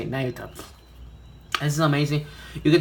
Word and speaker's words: Nayuta: That's how you say it, Nayuta.